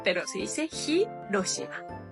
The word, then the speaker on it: Hiroshima: eso palabras como Hiroshima en realidad sí se pronuncia el H vale muchos dicen Hiroshima pero se dice Hiroshima y bueno nuestra primera